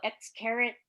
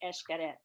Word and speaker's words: Xcaret: song it is esh the x is pronounced like an e-s-h cadet so many people x-carat i did that when